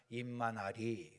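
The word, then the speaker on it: 以马内利: 근데 우리는 임마누엘 하지만 중국 사람들은 뭐라고 발음하냐면 임마나리 그래요. 임마나리.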